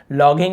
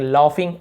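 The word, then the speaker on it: laughing: तो लाफ है ना, तो जी साइलेंट होता है, लॉगिंग नहीं पढ़ेंगे, लाफिंग, लाफिंग ऐसे पढ़ते हैं।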